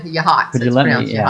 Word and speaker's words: Yachats: But yeah, Bree said that's pronounced what I thought was Yahats. It's Yahats.